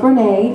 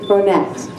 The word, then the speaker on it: Bronette: Many of you might think that, oh, Storm, you're pronouncing that wrong, as I often do many words, but it's not Bronette, it's Bronette.